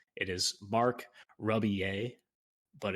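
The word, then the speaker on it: Rebillet: correct it is mark ruby a but it's it's spelled uh r-e-b-i-l-l-e-t it's like rebelette or rebel a but it's it's pronounced ruby a uh yeah but anyway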